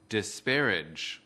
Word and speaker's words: disparage: quý vị khán giả lưu ý đọc âm GE ở cuối từ. Kính mời quý vị nghe và lặp lại. Disparage. Disparage. Kính mời quý vị khán giả tập đọc theo trọng âm của từ disparage. Từ disparage có 3 âm tiết. Trọng âm của từ disparage ở âm tiết thứ nhất.